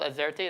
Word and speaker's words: AZERTY: I heard it's called Azerty. Is that the correct pronunciation? All right, there you go.